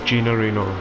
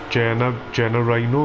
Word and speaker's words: Gino Reno: Gino Reno, yeah. Hello, it's I don't. I was calling him Jenna Rhino before. We covered that one up. Anyway, it's Gino Reno.